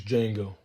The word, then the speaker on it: Django: what's your name my name is django spell it d j a n g o the d is silent and that is from the film django unchained and i dropped in theaters in 2012.